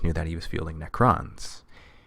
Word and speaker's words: Necron: that he was feeling necrons got to put the emphasis on the second syllable there just to make